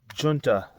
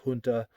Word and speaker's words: Junta: this, whether it was Junta, Junta. I've always said Junta. I believe that's the closest way to say it.